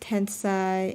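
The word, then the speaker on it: 天才: gonna read the footnotes genius and disaster or are both pronounced Tensai in Japanese the word system is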